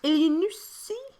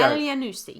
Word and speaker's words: Elyounoussi: He's put that phonetically. Elyounoussi. Thank you. There you go. Elyounoussi. Still said it wrong. Elyounoussi. Elyounoussi. Yes.